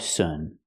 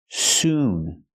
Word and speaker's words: soon: be five Sun Sun the word is pronounced we have to use a long oo sound like Moon soon noon it's the long ooh sound not uh like good in book not Sun but soon example it's 11:45 so